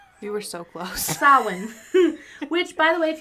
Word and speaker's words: Samhain: Semaine. Semaine? Yeah, I don't know how to pronounce that. Oh my god, it's way off than what I thought. Okay, hold on. Samhain. Samhain. Yeah, but it's got an H and an M.